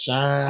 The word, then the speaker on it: Shein: That shit gonna always be Sheen to me. I think we still mispronounce that. Shine.